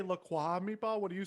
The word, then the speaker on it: LaCroix: i'll tell you about why it is actually pronounced lacroix because it was initially even though it's run